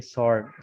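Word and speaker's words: sword: इसी तरह WSORD, सॉर्ड, सॉर्ड का माना होता है तलवार, सॉर्ड।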